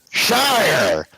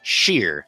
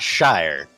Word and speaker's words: Shire: So as far as he's concerned, it's pronounced sheer, not shire.